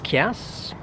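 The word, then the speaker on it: Kiers: answer my name is chaos might be a bit difficult to pronounce and to spell its k IE RS i used to say it's somewhere in between chaos and who cares and this video is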